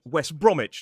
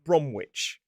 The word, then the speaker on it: West Bromwich: We see it in the places like Norwich, not Norwitch, Greenwich, not Greenwitch, and West Bromich, not Bramwitch. However, some people will also pronounce that suffix it. So, they'll say Norwich and Greenwich. Now, you'll notice in the three examples I've given so far, while there is a W in the words in the place names, the W is silent.